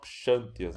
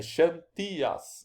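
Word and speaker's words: Ξανθίας: Perceba que eu falo Xantias, né? Como se tivesse um acento na última sílaba, na penúltima sílaba, né?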